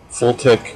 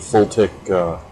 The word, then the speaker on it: FLTK: uh a quick test of using the full tech or fltk as they pronounce it full tech gui system um pretty